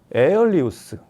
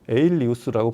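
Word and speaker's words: Aelius: 에리우스. 에어리 이우스도 아니고 에리우스라고 발음해야 되는데 이제 그리스 발음이다 보니까 뭐 아일리우스라고 쓰시는 분들도 있고 그런데 통칭 그냥 수입사에서 부르는 이름대로 에일리우스라고 부르면 어이 제품은 정확히 하이브리드 파워앰프예요.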